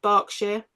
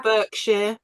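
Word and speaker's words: Berkshire: learn English because it's B E R K but we pronounce it bark bark but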